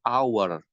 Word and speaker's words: hour: kita pakai Kalau depannya buinya Kenapa Pak karena bacanya bukan tapi hour Minggu a month sekali dalam sebulan a year